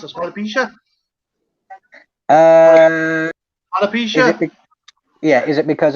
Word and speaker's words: alopecia: to his own hair would it be like alopecia or some halip help me out here deacon how do i pronounce this alopecia alopecia yeah is it because of the general